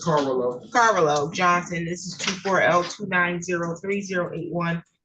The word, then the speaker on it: Carvalho: Okay, this is City of Lansing versus the Corallo, is that how you say it? It's Carvalho.